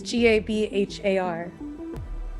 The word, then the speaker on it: Gabhar: gonna say it wrong because B's and H's don't make. They make a kind of W or a V sound. Yeah, but it looks cool. It's Gabhar, which looks like Gabber, but it's not.